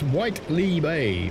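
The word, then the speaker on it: Whitley Bay: Mark B says, pronounced Whiteley Bay.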